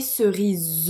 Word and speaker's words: cerises: lettre s il ya une lettre s à la fin qu'on ne prononce pas parce que c'est la